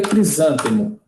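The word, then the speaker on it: crisântemo: que levava um não fica crisantemo já já antecipando a pronúncia né que é uma paroxítona e a próxima lição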